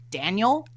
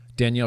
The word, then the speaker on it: Danielle: that my entire life people pronounce my name daniel because they don't realize there's a girl version and a whoa yeah one has two extra letters and it's the girl yeah one has an extra l and an extra e oh no most of